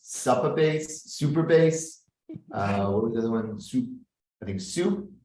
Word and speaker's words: Supabase: we wanted to have super bass er uh but the domain wasn't available so we have to go PA but but we we've always just pronounced it super as in you know okay so yeah